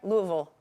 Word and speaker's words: Louisville: a Louisville native did I say it right Louisville that's how you say it Louisville Louisville I